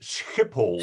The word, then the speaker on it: Schiphol: And by the way, Schiphol is Schiphol, Schiphol. and we used that kind of phrase in the Second World War as a catchphrase to catch Germans, because they also said Schiphol.